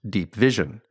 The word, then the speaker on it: Deep VZN: The program is called Deep VZN, which I believe is pronounced Deep Vision, and it's part of USAID, the agency which distributes most American foreign aid.